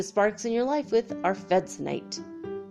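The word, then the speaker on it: arfvedsonite: have I heard this ARF like a dog goes our food AR f ve D s o n ite are fed sound ight our fed tonight jolts you awake so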